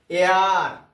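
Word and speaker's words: heir: এয়ার, আমরা হেয়ার বলি না, উত্তরাধিকারী যার বাংলা। অনার, আমরা আমরা হনার বলি না, মানে এইচের উচ্চারণটা আমরা করি না, উচ্চারণ স্টার্ট হয় কোথায়?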